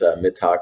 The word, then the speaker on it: Mittag: Yeah, I am Mittag, and Rob pronounced it Mittag, which is the German pronunciation, which I like.